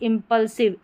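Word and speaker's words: impulsive: आईव के बजाय यहां पर इव करके होता है। जैसे इंपल्सिव इव करके होता है। यह अपवाद में है।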